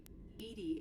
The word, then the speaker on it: EDI: ED is the phonetic pronunciation of EDI.